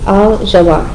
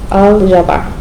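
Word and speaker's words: الجبار: move on here to al jabar. Okay, al jabar. So again, ja ja. It kind of is another one of those tricky ones where your tongue is going to the roof of your mouth, but you can't say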